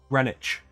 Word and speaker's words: Greenwich: any delays interruptions whatever Greenwich Greenwich there's a Greenwich in New York radish village I think it's pronounced the same way which is funny because it's a specifically English word that's spelled differently from how it's pronounced like several ingre English